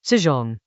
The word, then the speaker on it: 輜重: The word Chinese letter, zīzhòng, refers literally to the heavy supply carts that a military force drags with it.